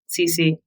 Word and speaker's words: Cece: You're here sitting with me, Cece. CeCe is my last name in American pronunciation.